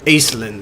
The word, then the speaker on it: Aislinn: Aislinn, that's how you say it.